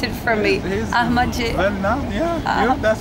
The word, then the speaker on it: Ahmadinejad: Can you pronounce it for me? Ahmadinejad. Well now, yeah. That's Ahmadinejad.